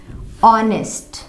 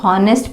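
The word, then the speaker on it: honest: किसी भी स्पेलिंग में आप देखना, अगर AEIOU के तुरंत पहले H आया है तो वहां H साइलेंट होता है। जैसे ऑनेस्ट, इसको क्या पढ़ेंगे? इस स्पेलिंग में बहुत सारे लोग मिस्टेक करते हैं, इसको ना अक्सर लोग गलत ये सारे वर्ड्स को पढ़ते हैं, वो बहुत गंदा साउंड होता है। यानी इस स्पेलिंग को ज़्यादातर लोग हॉनेस्ट पढ़ते हैं, हॉनेस्ट या हावर, हॉनर,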